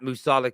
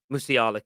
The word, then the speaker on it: Musiala: we all know uh that musala kid musiala kid sorry I keep saying I don't know why it's in my head I said it wrong once and I can't get it out a kid is a